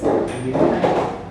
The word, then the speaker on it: Keil: We say it's Kyle actually because it's German pronunciation. So it's Kyle.